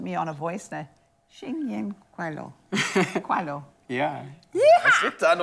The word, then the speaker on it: 新年快乐: We say 新年快乐.